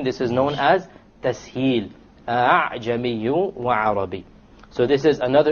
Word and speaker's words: أَعْجَمِي: You don't say أَعْجَمِي. Rather, you pronounce it as follows. أَعْجَمِي. أَعْجَمِي. You don't pronounce it a full hamza, and you don't pronounce it as an alif, full alif. It is in between.